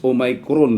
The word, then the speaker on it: Omicron: Ang katuwa ang atong pronunciation ani is Omicron, no.